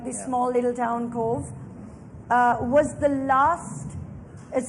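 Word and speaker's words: Cobh: really tiny town called Cove and Cove is spelled a c-o-b-h so I have no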